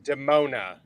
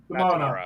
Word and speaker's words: Demona: Also, her name is Demona. Demona. Okay, I do know that. I just, for some reason, I say it like that. I know it's Demona.